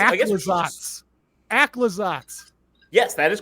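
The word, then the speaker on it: Aclazotz: I have the official pronunciation. Also, I guess we should just- Aclazats.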